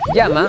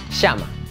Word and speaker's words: llama: les doy un ejemplo en Argentina o Uruguay pronuncian la eye de la palabra llama de forma diferente a como lo hacen los habitantes de otros países de latinoamérica Sí Mientras un peruano pronuncia llama un argentino dice la misma palabra así llama veamos otro ejemplo en